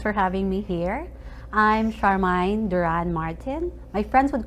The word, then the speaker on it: Charmaine: my guest for today is charmine do you pronounce it charmine um yes charmine charmine Duran when she came over but now